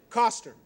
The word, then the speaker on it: Koester: Coster. Coster. Right, just like it's not spelled.